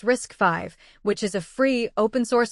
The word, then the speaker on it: RISC-V: The main long-term competitor is something called RISC-V, pronounced risk five, which is a free, open-source alternative to Arm's instruction set.